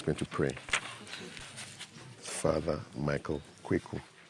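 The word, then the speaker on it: Quaicoe: Kweku is spelled Q-U-A-I-C-O-E.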